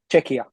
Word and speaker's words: Czechia: Czechia.